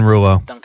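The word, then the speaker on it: Rouleau: ahead i found out his last name is pronounced ruler ah duncan duncan ruler i figured that's what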